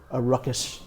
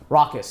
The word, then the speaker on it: raucous: want more of a ruckus environment. Raucous, I think is the pronunciation.